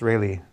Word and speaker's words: Rayleigh: Rayleigh quotient is that correct Russ it's not rally it's really according to us I mean according to the world that's the correct pronunciation but all right okay here's the the